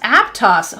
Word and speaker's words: Aptos: Oh, and it's pronounced Aptos. Oh my! I'm learning so much today. This is amazing. Duncan said. Do you mean to tell me that typeface is called Aptos?